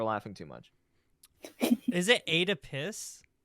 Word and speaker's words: Oedipus: because people were laughing too much is it eight a piss it's Oedipus Oedipus oh oh I'm saying that forever now thank